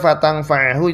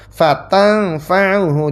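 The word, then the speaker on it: فتنفعه: seperti kita biasa baca fatangfahu itu mengikuti imam yang kedua fatanfauhu di bunyinya dibaca fatanfauhu bedanya ainnya sekarang diamah Ini kebanyakan mayoritas imamnya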